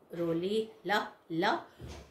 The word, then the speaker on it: Rolihlahla: How you will pronounce? Rolihlahla Mandela.